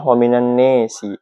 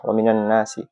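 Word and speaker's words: وَمِنَ النَّاسِ: lafaz annas yang dimajrurkan hanya pada Imam Aduri Abi Amir Abu Amar itu membacanya dengan imalah jadinya waminanesi waminanasi albakun sisanya bil fathi seperti biasa dengan fatah waminanasi lanjut permasalahan yang kedua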